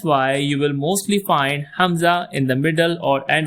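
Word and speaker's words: ء: Next alphabet is Hamza. Hamza glottal pose. Hamza is not a standalone sound. It's more like a gloal stop helping join or separate vowel sounds.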